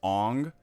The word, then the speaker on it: Aang: pronunciations of names, like how they pronounced Aang as Ong. You know, like if you look at it culturally, a double A makes more sense than just Aang.